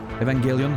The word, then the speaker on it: Evangelion: I just know it looks straight out of Evangelion right now. Evangelion or whatever, however you pronounce that. Fucking crust, you know, like in the... Oh, the music. Evangelion, hard G, yeah.